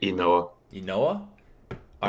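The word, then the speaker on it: Ynoa: Is it Noah? Is that how you pronounce it? I think it's Inoa.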